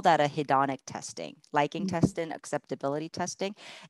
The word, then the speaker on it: hedonic: something what is that word how do you spell that hedonics h-e-o-n-i hedonic it's like it's a it's a